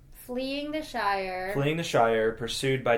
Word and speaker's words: Shire: was 2 syllables, but Shire, I think, is best seen as only 1 syllable. Seen as only 1. You can definitely pronounce it as 2 syllables.